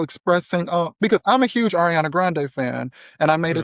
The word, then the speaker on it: Ariana Grande: anything about Ariana Grande. Is that how you say her name? Or is it just Grande? Ariana Grande, yes.